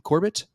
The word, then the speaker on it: Corbet: Corbet.